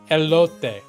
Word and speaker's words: elote: it's rare does ELO have corned it I'm laughing because I know I'm saying it wrong if it's Spanish it's probably elote right is it